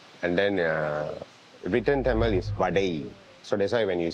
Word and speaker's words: vadai: So Malays call it vadi. So there's few people call it differently. Chinese call it vadai. So they literally pronounce vadai.